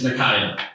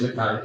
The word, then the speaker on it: Nakia: And so, sorry about this, but it's Nakia. My first name is Nakia. It's Native American.